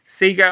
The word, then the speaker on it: Sega: I'm going to pronounce it Sega because this is an Australian release. Um, that's how we always called or that's how we always pronounce the name, but of course, other people call it Sega, but Sega Oussoft.